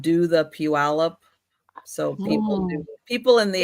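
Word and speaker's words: Puyallup: It's pew alop. Pew. Pew. Like a church.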